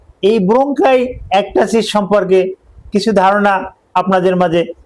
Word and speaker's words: ব্রঙ্কাইএক্টাসিস: উচ্চারণটা আমি আবার বলছি, ব্রঙ্কাইএক্টাসিস। উচ্চারণটা এভাবে হবে, আমি আবার বলছি, ব্রঙ্কাইএক্টাসিস।